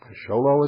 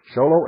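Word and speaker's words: Show Low: box 1420 sholo Arizona sholo is spelled exactly like it sounds two words show and Low sholo Arizona 859 901 phone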